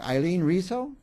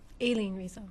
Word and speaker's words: Aileen Rizo: And our next guest, I'm going to say it wrong, Aileen Rizo? Aileen Rizo. Aileen Rizo.